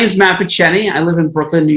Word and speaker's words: Picheny: How do you pronounce that? Picheny? Picheny, that's right.